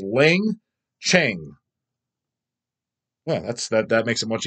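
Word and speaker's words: Leng Tch'e: thing I couldn't pronounce, is pronounced as Lang Cheng.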